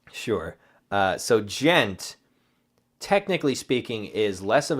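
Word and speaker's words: djent: me say before but what do you think Ghent is so it's spelled D j e and T gent what do you think that is the massive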